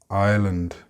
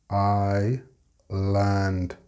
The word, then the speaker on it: island: The next word is another silent letter, island. The S is silent. I land.